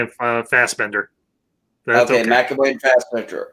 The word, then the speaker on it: Fassbender: McAfee and Fenderbash. Hey, if I said his name wrong, McAvoy and Fassbender.